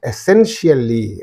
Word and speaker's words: essentially: And essentially is there again, IAL. So in these three syllables, this suffix is there. So therefore, this is the syllable preceding the suffix. Therefore, you say essentially, right?